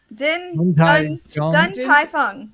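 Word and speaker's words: Din Tai Fung: I can't pronounce this place. Dun Tai Fung.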